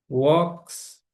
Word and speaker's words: walks: E a pronúncia desse verbo aqui é simplesmente, não pronunciei o L aqui, né? E o A tem som de o, é o contrário do som em inglês, né?